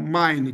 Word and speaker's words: mine: Então eu não pronuncio o último e conforme a regra geral. Então como é que ficaria a pronúncia? M M Ura só a tendência. Qual a tendência? Mine. Mine a tendência mine. Duas sílabas. E aí complica mine, tá? Que não é o correto.